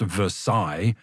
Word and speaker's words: Versailles: Copenhagen, Switzerland, Versailles, Versailles, which to his amazement was actually pronounced Versailles.